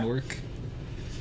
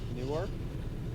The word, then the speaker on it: Newark: Newark? Yeah, pretty much, yeah. I mean, I know it's Newark, but I always said Newark, like N-O-R-K. Newark. Yeah, Newark is Newark. more fun to Newark.